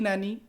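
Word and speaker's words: Gnani: तो सबसे पहले बात करेंगे तो जी नैनी, जिसको हम जी इसमें साइलेंट रहता है तो नैनी बोलेंगे, ठीक है।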